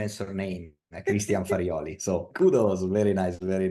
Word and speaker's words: Christian Farioli: And you are one of the very few that can pronounce correctly. My name is surname Christian Farioli.